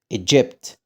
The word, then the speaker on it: Egypt: لكن هنا حرف الجي لما يجي وراه اي او اي او واي بنطقه ج. خد بالك ما اسمهاش ج، لا الج حط دي خفيفه كده، فبقول جراف، جراف، جراف. Egypt، Egypt، Egypt.